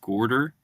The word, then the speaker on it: Gaarder: my name is that it's actually pronounced gorder. It looks like garter and it trips up everybody.